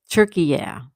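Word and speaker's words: Türkiye: Those lazy Brits took out turkey yeah and made it turkey. Like the bird. Like the turkey we eat on Thanksgiving. Anne says absolutely. All right, turkey yeah.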